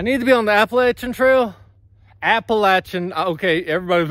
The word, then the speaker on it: Appalachian: I need to be on the Appalachian Trail Appalachian okay I said it right that time there